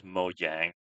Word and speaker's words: Mojang: I pronounce this Mojang. So with like a hard J.